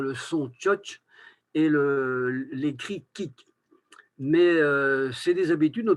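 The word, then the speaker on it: kig: Pour le mot qui s'écrit K-I-G, il y a plusieurs prononciations, donc c'est la viande. Tout à l'heure, c'était mer, hein, pour ceux qui ne connaissent pas. Ça, c'est de la viande. Et on peut dire kik, comme ça se prononce. Notez qu'on prononce K à la fin, même si on écrit un G. On peut dire chich, chik, chich ou choch.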